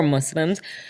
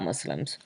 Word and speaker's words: Muslim: non-muslims and also about Muslims also another aside but I think irrelevant to what men want to mention is the pronunciation of Muslim its Muslim with an S not Muslim Muslim ik which makes it sound